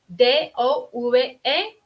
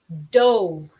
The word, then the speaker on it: dove: The word dove, D-O-V-E, dove, y dove, D-O-V-E también, pero la pronunciación es diferente.